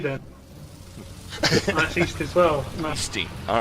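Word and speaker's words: Eesti: Yeah, I have just been corrected by my brother about the pronunciation of SD. It's actually Easty.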